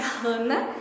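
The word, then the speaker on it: חנה: vocês também é que o nome Ana né É no hebraico ele tem a pronúncia Rana e significa graça já que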